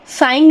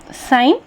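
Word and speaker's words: sign: उसे हटा देते हैं उसी तरह से साइन सांग नहीं बोलते जी का उच्चारण सांग नहीं बोलते हम जी का उच्चारण ही नहीं करते हैं साइन जिसे हस्ताक्षर या चिन्ह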